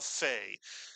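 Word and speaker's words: פ: And a pay without a dag is pronounced as an f and therefore we call it a fay but it's the exact same letter.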